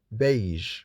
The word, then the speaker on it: beige: J is voiced and linus, like in shake, beige, not beige, like in French.